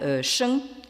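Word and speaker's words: 生: côté de la diapositive, qui se prononce en chinois moderne Sheng.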